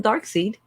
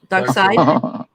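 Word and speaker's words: Darkseid: his name doug doxy everybody calls him dark seed that's a joke dark side yes yeah that's not how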